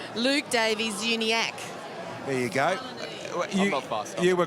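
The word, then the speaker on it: Davies-Uniacke: that tonight don't give us correct the correct pronunciation Luke Davies uni ACK there you go you were great tonight oh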